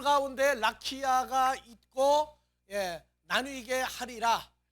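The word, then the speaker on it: רָקִיעַ: 이 발음은 안 해도 안 하는 게 좋아요. 그래서 라키아. 으는 무슨 묵음이죠. 소리가 죽은 소리라고. 그래서 라키아 으가 아니고 라키아로 그냥 읽어주는 것도 괜찮아요.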